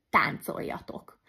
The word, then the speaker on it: táncoljatok: teljesen a másikhoz hasonul például táncoljatok az l-t azt j-nek ejtem de leírva l j-vel fogom harmadik zöngésség szerinti részleges